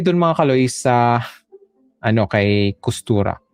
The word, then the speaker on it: Costura: So, punta na tayo dun mga Kaloys sa kay Kustura. Okay? Kostura. Okay, yun yung pag-pronounce.